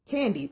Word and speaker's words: KanD: my name is candy it's spelled k-a-n capital d and the d is stressed um so the pronunciation is um candy just like the candy um and so i